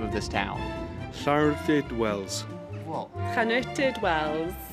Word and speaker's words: Llanwrtyd Wells: Llanwrtyd Wells. What? Llanwrtyd Wells. Llanwrtyd Wells.